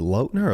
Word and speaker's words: Lautner: was that Taylor Lautner is it loadner a lot no that was Taylor Lautner is saying that we've been pronouncing